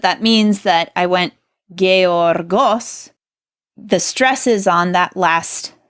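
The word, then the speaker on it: γεωργός: so this word is gay orgos and the accent there is on that last syllable the Omicron in boss and you notice that that means that I went gay orgos the stresses on that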